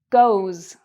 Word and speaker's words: goes: "es", and it becomes: "goes", "goes". Now, what do you notice about the "s" sound, here? Is it a "z" sound, like a "z"; or is it a "s" sound, like an "s"?